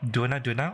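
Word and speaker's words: Dohna: If you search up Duna, although it's spelled like this, D-O-H-N-A, you search that up, English, you can't find an official English release.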